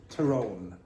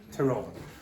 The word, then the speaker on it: Tyrone: Okay, it's pronounced Tyrone. Tyrone.